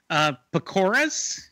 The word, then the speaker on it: pakoras: So I gave it 8.5, 10 pakoras.